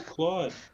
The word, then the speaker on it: Claude: new pretty new eh rhymes with applaud oh claude yeah claude could do